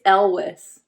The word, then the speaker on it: Elwes: It's Elwes.